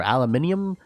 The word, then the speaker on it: aluminium: do you know that uh aluminum or aluminium depending on I guess how you want to pronounce it I think aluminum is American so I'm going to